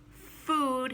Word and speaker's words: food: we like to eat food has the same ooh sound and rhymes with rude uh so don't say